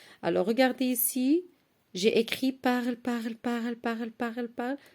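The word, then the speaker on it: parlent: La terminaison de vous, c'est EZ et on dit vous parlez. La terminaison de il avec S ou bien elle avec S, c'est ENT et on dit il parle. Regardez, s'écrit ENT mais se prononce E, ok?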